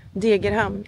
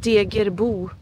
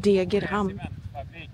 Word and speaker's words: Degerhamn: Okay, I said it wrong. Degerhamn. It's not called Degerbo. It's called Degerhamn.